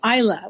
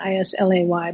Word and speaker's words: Islay: a distillery on the island of Isla which is spelled Islay is La why but it's Isla and and that's in